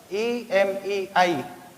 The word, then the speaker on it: MA: EMEI. Here, E is a vowel. When we will make sound of the word M.A, it will be like this. EMEI. E is the vowel.